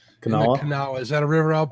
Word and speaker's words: Kanawha: Kanawha. Kanawha.